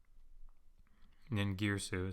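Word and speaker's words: Ningirsu: So, nin, nirsu, nin girsu is how it's usually pronounced, but nirsu.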